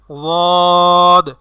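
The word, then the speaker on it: ضاد: সেটিকে আমরা এভাবে বলতে পারি, জিব্বার গোড়ার কিনারা উপরের দাঁতের মারির গোড়ার সঙ্গে লাগাইয়া একটি হরফ উচ্চারিত হয়, সেটি হবে ওয়াদ, ওয়াদ, ওয়াদ। আমরা অনেকে দদ বলি, দদ, দদ বললে সেটা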